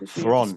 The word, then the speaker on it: Theron: Oh, Theron, I believe. Theron. Yeah, we've all been saying it wrong our whole life.